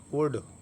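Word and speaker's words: would: वुड तो वुड की मिसाल में भी देखें आप एल एल के बाद डी। तो एल के बाद जब डी आ गई तो फिर एल साइलेंट रहेगा।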